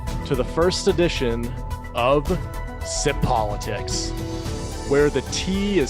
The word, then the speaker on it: Tsipolitics: everyone and welcome to the first edition of sip politics where the tea is silent but the truth is not my first